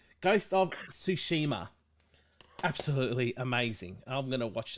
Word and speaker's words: Tsushima: can see the without the reflection ghost of shisema i can't pronounce it i was gonna get it wrong ghost of tsushima absolutely amazing i'm gonna watch the stream here